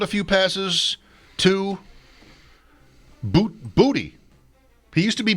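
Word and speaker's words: Boutte: Boot Booty. He used to be Bouty, but like many college players when they come to the NFL, they change how their name is pronounced.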